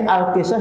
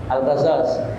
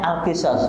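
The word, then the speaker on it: القصص: asyuaro dua kali alqisas nek mriki nyebute alqisos no alqasos alqasas kalau di luar negeri sebagai nyebutnya alqisas pakai kasrah di depan kemudian asofat dua kali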